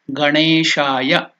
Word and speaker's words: Ganeshaya: So you have to pronounce just not Gana. It is Gana. Gana. The tongue should touch the Murdhanya, palate. So that is it is not even Gene. It is Ganeshaya.